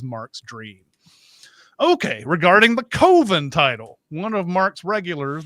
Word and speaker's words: Coven: regulars the tremendously over-the-top Robert Richard George tells him it should be pronounced like coven usually is but Mark rejects that on the grounds that it sounds like oven Mark tells us his